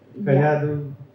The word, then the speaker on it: Kayadu: ask any question to Kayadu? Am I pronouncing it right?